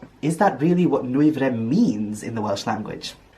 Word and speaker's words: Nwyfre: said it is pronounced some people might stumble a bit on the w and the y following each other it's easier to cut